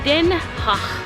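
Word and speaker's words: Den Haag: so if you want to know how to pronounce the hague as a local then you have to see then ha so the G is a nice host and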